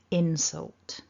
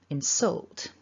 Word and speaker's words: insult: So an insult, we stress the first syllable, insult.